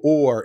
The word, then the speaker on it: Oher: and the family is I pronounce it Michael Orr even though if you look up his name o-h-e-r it sounds like it should be [